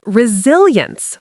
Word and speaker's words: resilience: Say resilience with stress on sill.